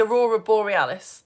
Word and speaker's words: aurora borealis: So, what we've just been learning about is it's In the north, it's called the aurora borealis. In the south, it's called the aurora australis. That's how you pronounce it.